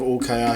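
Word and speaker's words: Hull: I just like to say UL. Is that how it's pronounced, UL?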